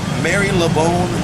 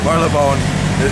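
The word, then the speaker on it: Marylebone: ask the indian guy how do you pronounce this word is that mary lebone marla bone marlin thank you man i appreciate that that's good marla bone is how it goes this is the magistrates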